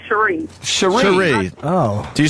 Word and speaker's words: Cherisse: Hi. Hi. Oh, it's actually Cherie.